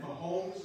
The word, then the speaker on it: Mahomes: But Patrick Mahomes, is that how you pronounce his last name?